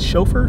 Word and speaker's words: chauffeur: Did I say it right? Chauffeur? Chauffeur? No, chauffeur.